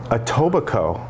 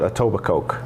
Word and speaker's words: Etobicoke: ads and advertising um etobicoke i made that mistake once i called it a tobacco oh that's what i would say too yes oh it's the ke at the end is silent silent and i was